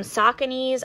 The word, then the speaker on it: Saucony: cool black and neon colorway we have some sauconys i think i mispronounced this in one of my past videos